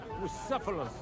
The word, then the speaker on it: Bucephalus: It's pronounced Bucephalus.